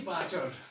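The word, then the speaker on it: barter: देखिए, बाटर, आर को silent रखेंगे, आर का प्रोनाउंसिएशन यहाँ नहीं करेंगे।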